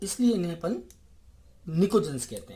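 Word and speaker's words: pnictogens: को कहा जाता है निकोजेंस। P साइलेंट रहता है निकोजन में, इन्हें निकोजेंस कहते हैं।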